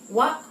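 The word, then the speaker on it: は: Jadi contohnya untuk partikel wa bacanya wa tetapi untuk penulisannya menggunakan hiragana H.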